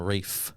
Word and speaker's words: Ralph: all call him a rafe like a wraith like he's taking the Rings to Mordor or something they literally call him Rafe it was [ __